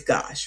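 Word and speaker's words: gauche: I would think it would be go, but they say it's gosh, right?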